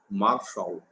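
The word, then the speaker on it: מָשָׁל: A palavra usual para provérbio no hebraico original é marshal. Marshal. Eu faço questão de reprisar, porque essa é a pronúncia, marshal.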